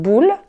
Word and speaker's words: boule: Une boule, ça s'écrit B. O, U, L, E. Mais O, U, en français, se prononce OU. Donc, on dit une boule.